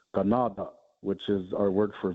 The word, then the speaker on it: Canada: So actually the word Canada is actually an airquan word uh from our language because it's actually supposed to be pronounced ganada which is our word